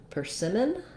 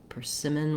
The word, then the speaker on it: persimmon: m's um and so when we're looking at persimmon we have second syllable stress the tricky thing here is that even though i don't stress that first syllable i still do use an er vowel so that'll be written